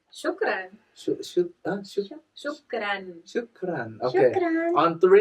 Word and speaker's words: shukran: How do you say thank you in Arabic? Shukran.